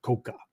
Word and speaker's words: Koga: They were known as the samurai from Iga or samurai from Koga, right? Or Koka, as sometimes the dialect is pronounced, right?